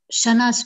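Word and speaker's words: kshana: Shanas, Prabhu, K is silent here.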